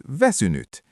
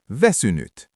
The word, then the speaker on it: väsynyt: The word for tired is väsynyt. It ends in a t, väsynyt.